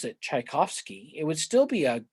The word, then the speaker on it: Tchaikovsky: if at the beginning instead of tch you just use a ch which still gets you the cha sound you're going to get